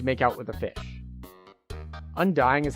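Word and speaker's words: Undyne: Undying is how you say it.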